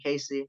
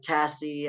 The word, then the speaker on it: Casey: growing up, like, man, people cannot pronounce that shit to say my, like, I've heard like Cassie, I've heard Yeah. like. There's no fucking N in my name.